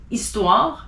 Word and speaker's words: histoire: You don't pronounce the H if it's in the beginning of a word. So as an example, hiver, heure, histoire, hasard, haricot, honte.